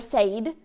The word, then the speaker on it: said: I don't pronounce it said or said. It's said. It's making a short E sound, actually.